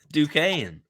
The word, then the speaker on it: Duquesne: How do you pronounce Duquesne? Duquesne.